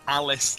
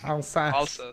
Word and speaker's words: Alsace: It's not Alice Lorraine. Alsace.